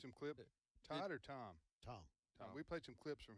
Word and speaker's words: Tom: Tom.